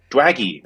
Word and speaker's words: Dwaggy: Dwaggy. Oh, okay. I used the wrong A. I used the short A.